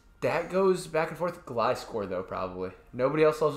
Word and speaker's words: Gliscor: G-L-I and then score. Gliscor.